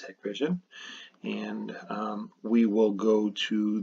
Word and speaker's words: Hikvision: I know I say Hikvision half the time. The correct way to say this is Hikvision.